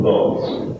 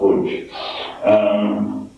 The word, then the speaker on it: Łódź: a city called Łódź, which is called Lodz, but it's pronounced Łódź.